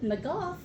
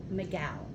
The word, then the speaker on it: McGough: you are absolutely wrong if you said Magoo then you are absolutely still wrong my last name is pronounced Miguel it's not an intuitive way to say it but it is in fact how you say it I've heard it wrong